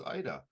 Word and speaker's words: Aida: because it's by name my name is Ida the a is silent yes thank you sir